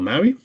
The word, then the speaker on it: MAUI: this is what's called Maui uh multiplatform app UI the p is silent cuz empa sounds like